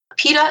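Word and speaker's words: Pita: correct pronunciation of that Peta is uh like the brand p-i-t-a his last name is t-a-u-f-a-t-o-f-u-a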